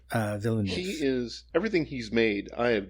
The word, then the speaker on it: Villeneuve: This director, how do you pronounce his name? Villeneuve.